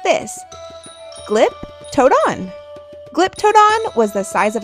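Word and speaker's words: Glyptodon: Giptoadon.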